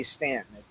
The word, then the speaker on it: Staunton: Although it's spelled Staunton, but it's pronounced everybody. And that's how you know whether people are locals or not. Is how they pronounce the name, but they say Stanton.